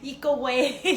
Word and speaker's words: Ikue: It's very hard to pronounce at first, but my name sounds like eco-friendly, eco-way.